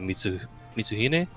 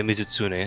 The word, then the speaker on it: Mizutsune: Someone wearing a Kyrian armor and someone with a Mitsuhine. I think. Mizutsune? Mizitsune. Yeah, Mizutsune. I knew I said it wrong.